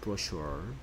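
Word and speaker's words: brochure: 그 다음에 얘기 이제 ch 가 보통은 어치 소리 잤는데요 이게 이제 프랑스어의 서는 쉬 소리 나거든요 그래서 브러쉬로 라고 발음합니다 브러슈어 브라 추억 아니고 부르시고 는 펭 샤넬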